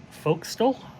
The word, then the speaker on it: forecastle: we will be doing the folk stole or Forecastle depending on how you pronounce it but I go foxtel um anyway a lot